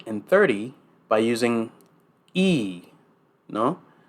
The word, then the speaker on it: y: and 30 by using e no pronounce that y e like the letter E in engl no uh means and